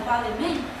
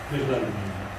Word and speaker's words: Bellarmino: For instance, in the disagreement between Galileo and Cardinal Balmain, I'm not sure how to pronounce his name, but... Bellarmino.